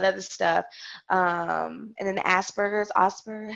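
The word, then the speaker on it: Asperger's: and all that other stuff um and then Asbergers asber how do you say that asers Asbergers yes yeah so my experience with autistic children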